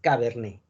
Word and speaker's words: cabernet: caso de la uva cabernet le late no se pronuncia es cabernet sale es la regla test